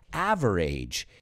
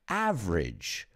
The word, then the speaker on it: average: while we're on it words that end in a g e are usually not pronounced age so we don't say beverage or average it's average or beverage a good